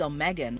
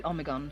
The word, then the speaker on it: Omegon: I think in English it is Omegon, like O and Megan. I don't know why. In German it would be Omegon.